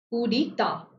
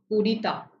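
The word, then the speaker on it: coup d'état: Coup d'etat. Coup d'etat. Right? So coup d'etat, the T there is silent.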